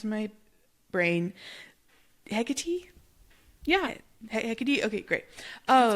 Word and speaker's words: Hecate: me think of another name I've only ever pronounced in my brain, Hecate.